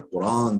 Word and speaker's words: Kur'an: Bu iki görüşe göre de yine yani Ferra'ya göre de efendim Eş'ari'ye göre de yine İmam Şafii'nin görüşünde olduğu gibi Kur'an hamzesidir. Kur'an diye okunur.